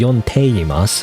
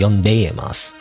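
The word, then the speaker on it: 読んでいます: I'm assuming it's just the way it is, you know, because it needs to be pronounced instead of yonteimasu, it needs to be yondeimasu, you know.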